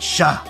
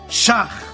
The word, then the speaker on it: Schach: the old man, says, "It's not Shah. His name is Schach after my rebbe, Rav Schach.